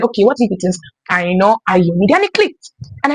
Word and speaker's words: Aina: So if my name is Aino, I shouldn't be saying Aina Ayomide because it is Aino Ayomide.